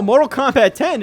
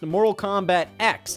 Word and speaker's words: Mortal Kombat X: But no, Mortal Kombat 10 is not actually called Mortal Kombat 10. It is actually officially pronounced Mortal Kombat X because they then later